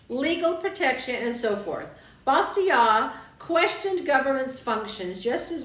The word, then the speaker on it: Bastiat: Frederick Bastiat, and I looked it up. That's how you say it. Bastiat.